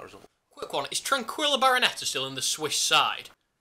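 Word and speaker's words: Barnetta: Well, he was at Bayer Leverkusen, but I've not kept too up to date in Tranquillo Barroneta's career. And I like his name, as it rhymes with Viennetta, which is an excellent ice cream brand.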